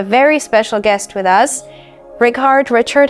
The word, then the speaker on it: Rickard: Richard, how should I call you? Oh, just Richard will do.